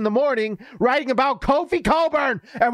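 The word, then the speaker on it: Cockburn: morning writing about kofi coburn and we're gonna say colburn because if we don't say it right it sounds pretty bad but anyways look what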